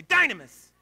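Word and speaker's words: dunamis: the word dynam iseverything say dinah MMus but say it like you mean it say Dinah --mess thank you this is the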